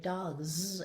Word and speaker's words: dogs: Uh it's really important to teach them this explicitly because if you were writing the word dogs and you heard that z sound, you might put d o g z.